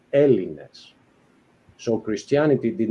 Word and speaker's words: Hellenes: Those were the Hellenes, as you say. no, So Hellenes, which you pronounced greatly, Hellenes is the plural.